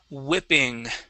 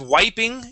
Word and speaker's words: whipping: Um, instead of wiping, it is whip. Whipping. Whipping. Whipping. Okay. Uh, let's use a short I whi. Instead of whipping, whi whipping. Whip. Whipping. Okay. Much better. Now, uh, with this word, remember class, if it has a wh that is going to be whip. Okay. To whip. Without the H that would be wipe. Okay. Wiping and whipping. Okay. With the H is whipping.